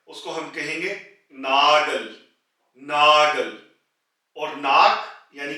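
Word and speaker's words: Nagel: नाखून जो के नेल है उसको हम कहेंगे नागल नागल और नाक यानी कि नोज को नाज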